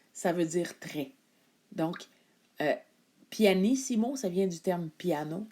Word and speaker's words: pianissimo: symboles le premier symbole qu'on va voir c'est pianissimo PP donc ça s'écrit en italien P i a n i